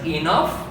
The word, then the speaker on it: enough: اذا نرجع لموضوعنا، قلنا كل جي اتش على شرط ان تكون في نهايه الكلمه سوف تلفظ اف، مثل كلمه enough، ولاحظوا الجي اتش باللون الاحمر ميزتها على مود تبين عندي هي لفظه مختلفه. enough، كف، love والى اخره من الكلمات التي تحتوي على جي اتش في نهايه الكلمه وتلفظ اف.